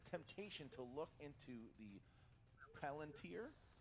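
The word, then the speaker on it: Palantír: which character cannot resist the temptation to look into the Palantir? Palantir. 2 points. I'm literally only here to correct his pronunciation.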